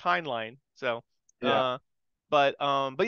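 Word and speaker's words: Heinlein: hline um like I always thought it was hinin but it's pronounced hin line so uh but um but yeah as far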